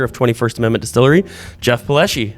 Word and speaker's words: Palleschi: owner and operator of 21st Amendment Distillery Jeff paleschi how are you good man the first question I have for you is did I pronounce that right yes okay so you got it most people say don't they either ones yeah all right yeah